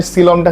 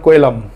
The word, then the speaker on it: coelom: এটা অ্যাকচুয়ালি উচ্চারণ হচ্ছে সিলম।